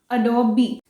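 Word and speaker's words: Adobe: सो it's right pronunciation is अडोबी।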